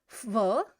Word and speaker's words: в: В, but it's going to pronounce more like a F.